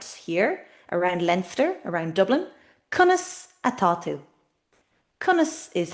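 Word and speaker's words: Conas atá tú: Kunis atu. Konus is how at means is and to is you. Kusatu.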